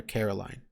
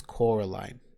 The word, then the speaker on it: Coraline: times in the book the adults that live in that same house get her name wrong they keep calling her Caroline and she keeps having to remind them it's Coraline there's a lot of